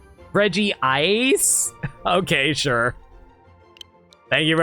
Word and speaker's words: Regice: I remember people actually called it Regice elsewhere.